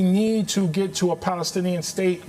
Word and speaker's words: Palestinian: We need Palestinian, that is how you say it, leadership at